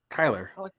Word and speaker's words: Kyler: I mean, I think Kyler is it you say Kyler or Kylar? Kyler. Kyler.